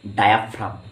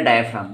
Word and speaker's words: diaphragm: है, they have muscular डायफ्राम, DIAPHRAGM, ठीक। Pronunciation clear रखेगा बच्चों, दे हैव मस्कुलर डायफ्राम, ठीक है।